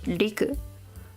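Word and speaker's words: 陸: book a lot but this is land pronounced as liku uh let's see it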